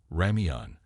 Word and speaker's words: ramyeon: South Korean fans and media have noted that the characters correctly pronounce ramyeon, or Korean instant noodles.